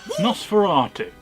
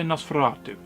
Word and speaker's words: Nosferatu: I never say it like that, I always say Nosferatu. I always roll the R's. I like to roll my tongue around R's.